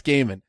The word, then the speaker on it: Gaiman: It's Gaiman. I always mispronounce it.